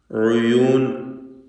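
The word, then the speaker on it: عيون: ഉയൂൻ, ഐനിൻ്റെ ദമ്മ് തെറ്റിപ്പോവാതെ, ഉയൂൻ ഒന്ന് ആയിപ്പോവരുത്, അവ്യക്തമാവരുത്, ശ്രദ്ധിക്കുക.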